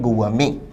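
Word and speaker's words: gourmet: answer होगा option B विद्यार्थी शब्द गुव मेंे के उच्चारण पर ध्यान दें गुव मेे में अंतिम टी को नहीं बोला जाता यह साइलेंट रहता है ठीक वैसे ही जैसे बुके में अंतिम टी साइलेंट रहता गुव में भोजन का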